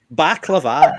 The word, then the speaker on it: baklava: Baklava or baklava doesn't really matter. It's the same. Either pronunciation will do.